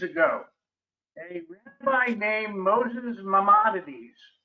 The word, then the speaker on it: Maimonides: Yes, correct pronunciation is Maimonides.